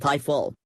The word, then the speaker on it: Ifill: Ifill, pronounced Ifill, grew up in a home where the church